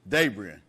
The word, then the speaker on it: Dabrien: Dabrien.